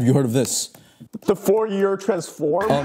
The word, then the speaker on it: Fourier: The Fourier transform? It's actually pronounced a Fourier transform because the mathematician was French.